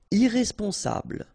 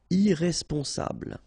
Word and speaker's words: irresponsable: Irresponsable. Don't pronounce the final E. Bl, bl will be the last sound. Sable. Irresponsable.